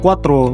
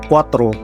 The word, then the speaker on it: cuatro: từ cuarto này nó gần giống với từ cuatro, tức là số 4. Thế cho nên là nhiều khi các bạn mới học ấy thì hay nhầm lẫn cái từ hai cái từ này. Cuarto, cuatro, cuarto, cuatro.